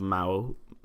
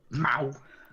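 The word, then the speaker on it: Mou: The village of Mao, which is spelled M-O-U. Mao. M-O-U. Yeah, right. Mao. Mow. Like a cat noise.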